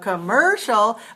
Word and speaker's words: commercial: distinguish that from commercial which is also three syllables but it stress on the second syllable then the first syllable is weak commercial but for the word